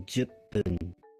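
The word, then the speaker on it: 十分: So, sometimes things that end with like a long vowel, if they meet a food, they will become this sort of jump. So, you'll say san juppun.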